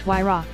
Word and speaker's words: Huayra: Named after the Incan god of winds, the Huayra, pronounced Huayra, boasts an AMG-sourced 6-liter V12 with 2 turbochargers, resulting in 620 horsepower and a massive 740 pound-feet.